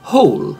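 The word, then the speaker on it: whole: La parola hole, che significa intero, che ha la stessa pronuncia di buco, hole, il W è muto.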